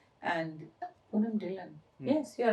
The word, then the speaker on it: Dhillon: Because as you write, you read, na? So you pronounce it like that. And Poonam Dhillon.